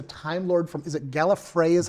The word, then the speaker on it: Gallifrey: And that the regeneration, I mean, he was he's a Time Lord from, is it Gallifrey is how they pronounce Gallifrey, it? yes. Gallifrey.